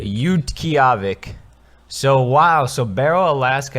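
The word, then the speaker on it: Utqiaġvik: Let's hear it pronounced. Utqiagvik. Utqiagvik.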